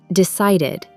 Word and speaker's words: decided: So, for verbs ending in T or D, the ED becomes pronounced as ID. For example, started, decided, shouted, waited.